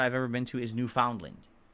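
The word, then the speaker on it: Newfoundland: ever been to is New Foundland which is actually pronounced newfinland I don't know what Dwarf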